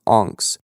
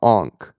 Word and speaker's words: Onx: the land is pronounced anks o n x not ankh like the famous egyptian totem okay so montego iv